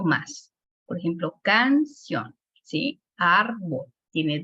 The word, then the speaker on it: árbol: Árbol. Al momento en que está aquí el acento, pues ya entendemos que árbol, ¿sí me explico? Tiene la sílaba con mayor fuerza de A.